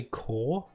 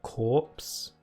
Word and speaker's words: Corps: I'm saying Survey Corps and not Corpse. Because A, corpse is like dead body. And B, in the trailers I swear they pronounced it Survey Corps. So it could just be like a silent P.